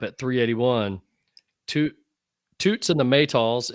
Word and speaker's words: Maytals: Then I pick up at 381, Toots and the Maytals. Is it Maytals? Is that how you say it? Yep. Yeah. Yep.